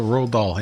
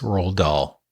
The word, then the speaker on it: Roald Dahl: So Roald Dahl, yeah.